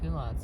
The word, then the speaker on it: culottes: And culottes is spelled C-U-L-O-T-T-E-S.